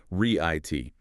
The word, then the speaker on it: receipt: We talked about the silent p. It's riit. Make absolutely sure you're not adding any p sound in there as that's a very common error.